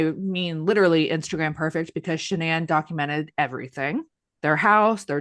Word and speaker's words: Shannan: People have mispronounced her name a lot because it looks like Shannon, but it's Shannan.